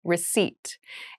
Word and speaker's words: receipt: a very interesting spelling there is a p in the spelling of this word but we do not pronounce it the pronunciation is receipt a receipt is a